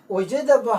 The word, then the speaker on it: oijadaba: Oijadaba has 4 syllables. Oijadaba. Oijadaba. Here atap is used in ba because this is another syllable, not combined with the. Therefore, in the word oijadaba, there are 4 syllables. That is oijadaba.